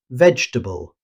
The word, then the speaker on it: vegetable: This word loses a syllable in natural speech. Instead of pronouncing every vowel, native speakers usually say vegetable, dropping the extra E after the G.